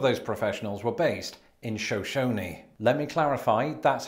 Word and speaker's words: Shoshone: But the city is pronounced Shoshone, and to this day, Idaho, how I got that wrong.